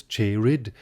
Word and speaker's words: cheered: And note that cheered is pronounced here with two syllables, cheered, and even with one syllable, een, in order for the line to scan.